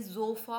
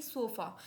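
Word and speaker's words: Sofa: है वोल वर्ड है तो वह हमेशा ज की साउंड करेगा किसकी ज यानी कि यह जोफा होगा जोफा यानी कि सोफा यह हमारे पास हो गया साफ्ट साफ्ट या सोफा नहीं बोलेंगे इट्स साफ्ट एंड जोफा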